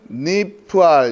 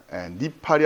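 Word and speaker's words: נפעל: 니팔 이렇게 되는데 니팔로 읽지 마시고 니프알로 니프알 니팔이 아니라 니프알이에요. 니프알. 이 여러분이 나중에 공부하실 때 훨씬 이게 수월합니다. 니팔이 아니라 물론 뭐 이거 틀렸다는 얘기가 아니라 그래야 체계적으로 정리가 돼요.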